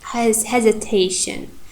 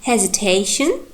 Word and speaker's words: hesitation: But in the word hesitation, the third syllable, te.